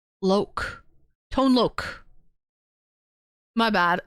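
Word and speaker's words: Tone Lōc: Tone lok. My bad. It's pronounced Lok. Loc is pronounced Lok.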